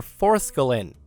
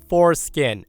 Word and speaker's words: forskolin: That's when I say to Karen, "Oh, were you looking for forskolin?" I probed, thinking maybe that was it, and she was mispronouncing it since it was a newer supplement at the time.